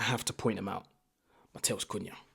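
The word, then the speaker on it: Matheus Cunha: Mattel Kuna. Mattel's Kuna. Tried to do my little Brazilian pronunciation there.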